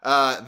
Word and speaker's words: Hebert: I think Kyle Hebert, Hebert, I don't know how to pronounce his last name. It's Hebert.